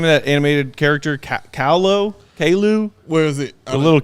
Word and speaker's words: Caillou: Kalu? Where is it? The little kid. CAILLOU. Caillou.